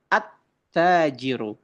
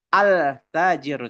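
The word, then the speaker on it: التاجر: Misal attajiru, iya kan? Attajiru maka tidak boleh dibaca altajiru. Tidak boleh teman-teman ya. Tidak boleh ya. Karena apa? Ta termasuk huruf syamsi syamsiah.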